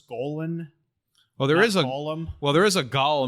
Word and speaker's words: Golan: want to point out i think you pronounce it gollum in globe as it's golan oh there is a